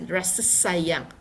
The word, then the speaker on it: Rasa Sayang: So you can see again the Ra, R-A, Ra is feel. Rasa, this is the pronunciation. We will see S-A, Sa, and then we have Y-A-N-G, Yang. So we pronounce Rasa Sayang.